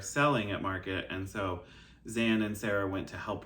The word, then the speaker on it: Xan: so the first is zan crazy band lady stitches uh and her um zan is spelled with an x and she is amazing